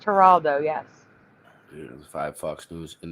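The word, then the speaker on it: Geraldo: for Christ it's spelled yes it's spelled it's pronounced haralo yes five Fox News and the other people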